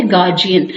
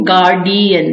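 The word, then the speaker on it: guardian: दूसरा जो वर्ड है वो अभी मैंने बोला था थोड़ी देर पहले, वो है गार्जियन, जिसको हम अक्सर बोल देते हैं गार्डियन, यानी डी बोलते हैं, तो उसको आपने डी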